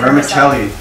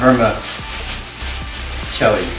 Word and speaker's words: vermicelli: roll vermicelli hermes vermic wait what is it pronounced vermicelli ah vermicelli rice remember kelly but what about in the